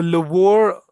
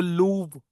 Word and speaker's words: Louvre: The Louvre or the Louvre Museum. इसको Louvre or Louvre ऐसे करके, मतलब we pronounce it. It's a French pronunciation.